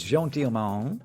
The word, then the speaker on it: Jeanne Dielman: We have just come out of watching Jeanne Dielman. I still can't say the name properly. Jeanne Dielman. Tell me again. It's Jeanne Dielman.